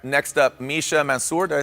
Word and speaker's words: Mansour: All right, next up, Misha Mansour. Did I say that correctly? Mansour, okay, I put more accent on it.